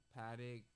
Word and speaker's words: Patek: How you pronounce it? Patek, Patek.